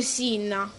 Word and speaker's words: Cinna: Ma è perché poi mi hanno rovinato che Cinna non si dice Cinna ma si dice Sinna, cioè io mi hanno rovinato l'infanzia, oh, ve giuro.